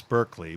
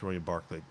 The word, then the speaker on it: Berkeley: barkley the american well the american pronunciation now is berkeley but back then it was the the the british pronunciation was used which was uh uh barclays william barclay he's colonial governor of